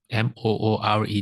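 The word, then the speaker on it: moored: M O R E D. Is it M? How do you pronounce that word? Can someone help me? It's not mood, right? It is more.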